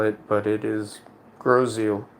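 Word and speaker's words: Grosse Ile: It's called Groseal. That is not how you would spell it, but it is Groseal.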